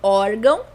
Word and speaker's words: órgão: Então, órgão é uma palavra paroxítona, porque a sílaba tônica é a penúltima sílaba dessa palavra. Então, nesse caso, mesmo ela